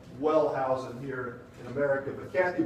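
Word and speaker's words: Wellhausen: see a a w in the German language is pronounced like V now velous is the original guy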